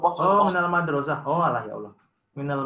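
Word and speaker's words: مدرسة: Salah, bukan mudarrisu itu bacanya.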